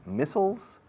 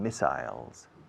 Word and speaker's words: missiles: long-range missiles or missiles two pronunciations missiles and missiles and to launch to